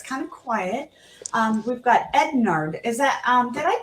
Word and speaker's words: Ednard: We've got Ednard. Is that, did I pronounce that right, Ednard? Yes, you got it correct. My name is Ednard.